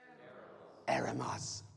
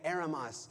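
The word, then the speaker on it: ἔρημος: Eremos. Okay, eremos.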